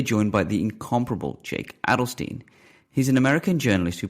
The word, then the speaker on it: Adelstein: I should say quickly that it's actually pronounced Adelstein, and the show pronounced it Adelstein. It's actually the German pronunciation is Adelstein.